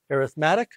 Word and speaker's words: arithmetic: sequences in series arithmetic and that's how it's pronounced arithmetic and geometric and then we're also going to